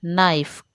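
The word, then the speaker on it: knife: ठीक है, तो वेडनेसडे तो D silent, our H silent, नाइफ के silent, com B silent, sign जी साइलेंट।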